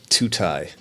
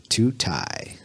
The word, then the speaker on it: Tutaj: So it's pronounced like all I've ever heard was Tutaj. Tutaj. not quite That's close. forever. can you please clear the air? How do you pronounce your name? Tutaj. Tutaj. That's it. It's like 2 Chainz.